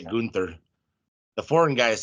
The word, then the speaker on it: Gunther: mentally focused on yeah Gunther don't know why you're saying it weird that's how they say it on commentary Gunther is it I thought it was gther I've heard it say both ways why don't you